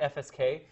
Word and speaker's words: FSK: The next guy is called frequency shift keying, or FSK. Yeah, don't pronounce it fsk.